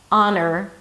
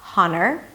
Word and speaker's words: honor: 'honor' as in 'your honor'. 'aa-n'r' - not 'haa-n'r'.